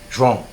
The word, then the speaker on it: João: João? Joam. So instead of Joam is too hard for Americans to pronounce, so he So goes they call by him John.